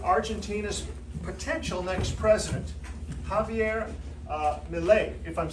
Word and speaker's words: Milei: Well, he's just interviewed Argentina's potential next president, Javier Milei, if I'm saying it correctly. Yes, Milei.